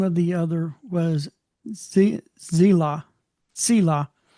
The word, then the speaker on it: Zillah: Selah. It's a TZ, it's a Saudi. Selah.